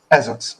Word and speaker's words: Esox: I definitely want to get into How do you pronounce it? Is it Esox? Ezox.